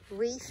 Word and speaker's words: Reeth: Reeth, yeah. Reeth, like teeth, but was spelt with an R at the front.